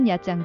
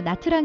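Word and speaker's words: Nha Trang: 또 다른 회원도 시 냐짱 도 휴양지로 유명한데요 한국에서는 영어식 발음으로 나트랑 이라는 이름으로 더 유명하기도 하죠 약장 은 베트남 남부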